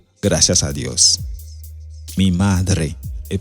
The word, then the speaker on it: gracias: Gracias a Dios. Est-ce que vous comprenez? Gracias, c'est pas glacias. Il y a monde qui dit glacias. C'est gracias.